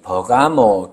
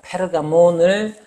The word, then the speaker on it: 페르가몬: 뭐냐 하면이 버가모 교 버가모라는 것이 그리스도로는 페르가몬입니다. 페르가몬을 이제 번역 옛날에 우리말로 이제 번역할 때 발음의 용이를 용이하게 하기 위해서 페르가몬을 버가모라고 이렇게 번역을 하는데 옛날부터 즉 로마가이